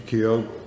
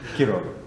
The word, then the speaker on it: Quiroga: Quiroga, I always say his last name wrong, Vincent. Quiroga. Quiroga, thank you, thank you.